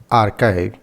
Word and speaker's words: arXiv: arXiv pronounced archive because the X stands for Z. The 22nd letter of the Greek alphabet is a gigantic online